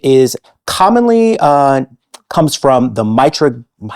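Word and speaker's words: Mitragyna: It is commonly comes from the Mitragina. We're going soft G today. Yep.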